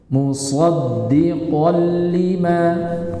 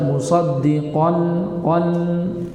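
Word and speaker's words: مُصَدِّقًا لِمَا: Jadi bacanya musaddiqan lima. Jangan dibaca musaddiqan qan. Ini salah. Musaddiqan, ini salah. Tapi musaddiqan lima.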